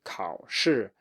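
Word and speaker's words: 考试: It is a low tone, so you have to say 考试. You cannot go up, you cannot have a dip, you cannot have anything like that. It should just be a low tone and everything will be fine.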